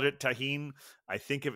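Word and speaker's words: Tajín: with the tahen uh Rim important called it tahen I think if it's spelled with a G it's is pronounced Tajin but if it's with a J it's tahen it's basically the same thing uh please send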